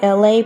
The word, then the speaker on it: LA: It's me, LA, pronounced like LA, like the city.